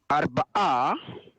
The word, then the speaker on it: Arba'a: That's a little tricky, but if you break it into syllables, again, I think you'll find it's not so bad. Let's go slowly together on this one. Ar. Ba. Ba. A. Ar. Arba'a. Arba'a. Very nice.